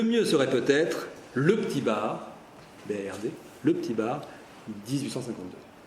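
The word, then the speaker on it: Bard: Le petit ermitage, l'ermitage, la maisonnette, le petit bar. Alors le petit bar, ça s'écrit B-A-R-D, je précise parce qu'il y a un D.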